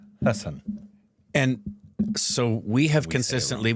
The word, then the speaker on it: Haasan: That is some of the work from Kamal Haasan's journey spanning 61 years.